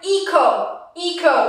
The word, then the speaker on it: echo: So here it's more like echo, why? Because the H comes after C, so it's not pronounced, it's silent.